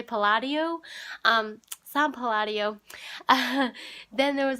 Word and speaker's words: Palladio: I always thought it was pronounced Palladio, but they say Palladio.